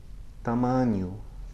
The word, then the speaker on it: tamanho: vinho, tamanho. Okay, it's sort of like the ny combination in the English word canyon, or the ni of onion.